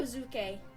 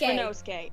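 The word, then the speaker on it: Ryunosuke: Rinozuke? Rinosuke. Rinosuke. It's Rinosuke.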